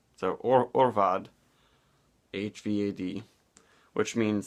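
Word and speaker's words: Ørval: The Mikkeller Gypsy Brewer beer Arh Vad, which is A-R-H, but it's A with the O over it, meaning you pronounce it O. So Orval.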